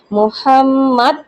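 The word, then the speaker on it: مُحَمَّد: তারপর মুহাম্মাদ, আমি যে হাকে গলা থেকে বলবো, এখানে লেখার দ্বারা কি বোঝা সম্ভব যে আমাকে মুহাম্মাদ বলতে হবে?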